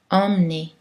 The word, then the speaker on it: emmener: que dans certains mots avec le préfixe en haut un suivi d'une racine qui commence avec une voyelle ou un est nous mêmes on prononce cette voyelle d'une façon nasale normalement selon les règles on pourrait penser que ce serait une voyelle orale mais en fait ce sont des exceptions par exemple on dit